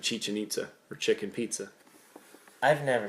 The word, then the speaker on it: Chichen Itza: That's not even how you say it. Buddy made sure every time he said it on the tour, he's like, it's Chichen Itza.